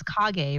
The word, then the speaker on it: kage: choosing the name one of the names is kage right yeah yeah and he's like i'm going to name it cage you thought it was pronounced cage and everybody in this chat is like it's kage it's kage known naruto i know right i